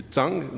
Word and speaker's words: Dang: music is for us Nathaniel Dang or Zang he tells me we can use both pronunciations the Tang the Chinese one is the correct one but for your convenience you can always say Zang as well he's 17 he comes